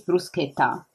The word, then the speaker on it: bruschetta: However, I was laughing a little bit because it's actually say, well, actually it's bruschetta. It's like pistachio.